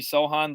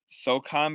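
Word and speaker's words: Sochan: is first picking jeremy sohan the league spiritual successor to march on gortat the correct polish pronunciation is so socon by the way it's weird because everyone says sohan or sohan so um i'll have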